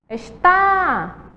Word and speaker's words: está: lá e é estar Qual é a sílaba mais forte está a segunda acentuada certo e a segunda aí que temos é esta é esta a primeira sílaba é a mais forte Vamos tentar colocar ela